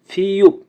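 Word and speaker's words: 피읖: ফিউপ, ফিউপের উচ্চারণ হবে ফ এবং প এর মতো, ফিউপ।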